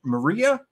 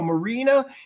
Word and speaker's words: Marina: Maria? Oh, no, Marina.